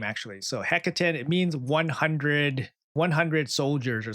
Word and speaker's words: Hekaton: So Hekaton, it means 100 soldiers or something like that.